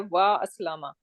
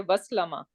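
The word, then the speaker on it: وأسلم: But this in Aslama, this is not Hamzatul Wasal. This is Hamzatul Qata with Fatha. And that means this is strong Hamza and we are going to pronounce even something comes before it. So if waw come, I would say wa aslama. I will not say waslama, which I'm saying in that sense.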